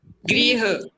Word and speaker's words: गृह: देखो अब एक शब्द है ग्रह, इसका उच्चारण पता कैसे होगा? इसका उच्चारण होगा ग्रह। ग्रह कौन सा ग्रह? वो जैसे 9 ग्रह होते हैं ना, तारे नक्षत्र ये। और इसका उच्चारण कैसे होगा मुझे करके बताओ। इस वाले शब्द का इसका उच्चारण करो, ये कैसे होगा? ग्रह। हाँ ग्रह। ग्रह तो ये है, गृह। गृह है ना।